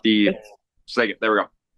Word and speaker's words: Skagit: Not the Skagit. There we go. Skagit. How do you say it? Is it Skagit? Skagit, right?